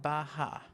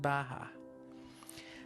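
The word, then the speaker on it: beatha: b-e-a-t-h-a but it's pronounced baja so when we breathe in i say ba when you breathe out i say ha now you don't need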